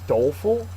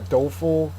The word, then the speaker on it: doleful: cursory next one is doleful uh dul is an adjective first syllable is accented it is sad or